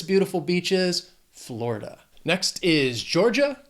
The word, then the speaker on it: Georgia: Next is Georgia, 2 syllables, stress on that first syllable, Georgia. Or again, if you're in the South, if you're in Georgia, people might say Georgia.